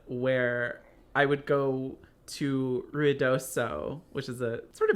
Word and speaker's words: Ruidoso: I don't have as many Ruidoso stories. It's also, my family has always pronounced it Ruidoso, and that's how I've said it my whole life. But it's really ruidoso. It's the Spanish word for noisy.